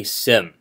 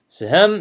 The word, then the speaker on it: Sejm: they would dominate the Sejm. The J is silent. Okay, so the Sejm is the Polish Diet,